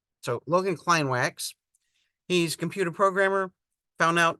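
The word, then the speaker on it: Logan Kleinwaks: I have to remember I always wanted to pronounce it the German Way and he pronounces it very American so Logan Klein wax he's computer programmer found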